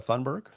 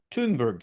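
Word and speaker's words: Thunberg: Uh well, meanwhile, Tom, uh Gret Greta Thunderberg. Tunberg. Tudberg. Greta Tudberg. I think that's how she pronounces it. Tunberg.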